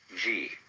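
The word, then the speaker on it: 事: First of all, there is a level of being which we will call Ji. The word Ji, which is Japanese way of pronouncing the Chinese Chur, is the world of things and events.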